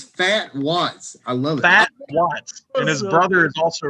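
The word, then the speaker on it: Phat Watts: so I gotta look say his name again fat Watts there he is fat Watts p h a t oh okay I was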